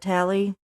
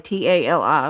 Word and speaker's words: Tali: I've been pronouncing it Tally. Tally or Tally, Tali was her name.